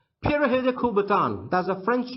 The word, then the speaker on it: Pierre de Coubertin: de Coubertin in English it's a French name it was the founder of modern Olympics Pierre de Coubertin it's the English pronunciation of the French name but the real French pronunciation goes like this para hill de Coubertin pirahã kubaton does a